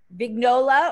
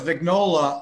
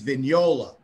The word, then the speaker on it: Vignola: big nola or vignolia well no it's vignola although the italian prince pronunciation which nobody ever uses is vignola like lasagna where you know yeah daniola but that is the way people actually say it but even my family says vignola now so oh wow yeah